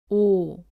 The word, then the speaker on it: 오: 쓰고 왼쪽에서 오른쪽으로 씁니다 5 를 발음할 때는 입술을 앞으로 내밀며 둥글게 만들고 소리를 냅니다 따라해보세요 5 다음은 우우 입니다 오는